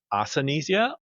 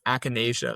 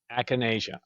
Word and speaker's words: Acanasia: Now, I'd like to know if I'm pronouncing this the way you would pronounce it. Is it Asania?